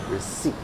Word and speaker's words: receipt: All right, that P is silent. Okay, we do not pronounce the P.